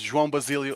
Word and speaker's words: João Basílio: I butchered it already. Well, nice try. Hi, everyone. My name is João Basílio.